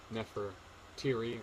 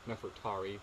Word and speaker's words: Nefertari: So Nefertiri, or Nefertari, depending on how you say it.